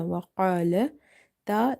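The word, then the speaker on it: وَقَالَتِ: And in the word وقالت قاف is heavy because it's from the heavy letters, and after qaf you see there is a letter alif. So whenever you see alif after the heavy letters, you have to make alif heavy as well. Secondly, this alif is madda here because there is a fatha before it.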